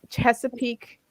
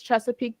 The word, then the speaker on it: Chesapeake: It says Chesapeake.